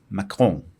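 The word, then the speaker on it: Macron: anyway Instagram and castbox Emanuel maon that's how the French people pronounce it apparently ma Maan has stated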